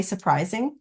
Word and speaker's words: surprising: when we say it it doesn't sound like we're saying this R here we say surprising a lot and you can't hear this R the way we pronounce it so you have to